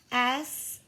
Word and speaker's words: sum: S-O-M-E? Like I would like some of those carrots? This is a little different. It sounds like that, but watch how we spell it. S-U-M. Some. Yeah, they sound alike, but they have different meanings.